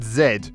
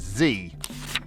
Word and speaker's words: Z: hard it is to insist to two toddlers that it's pronounced zed when every single song tv show toy etc says zee definitely say that so